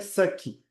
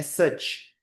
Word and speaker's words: such: Ó, a gente não pronuncia suck, tá? É such. S such.